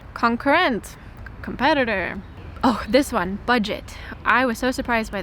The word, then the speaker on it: Budget: I was so surprised by this because in English it's budget. And then in German, they say it like a French pronunciation. So I guess it's a French word. But they actually, I noticed the Germans pronounce French words just like they do in France, or maybe similar. So they say budget?